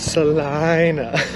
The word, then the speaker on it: Salina: It's Salina. That's just how the locals say it, Ziggy. I think they're wrong, but that's how they say it nonetheless.